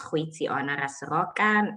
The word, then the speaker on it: Goitseona Raseroka: what Tanya has already shared, my name is Goitseona Raseroka. I go by or Goitse, whichever is easier for you to sort of pronounce or to latch onto.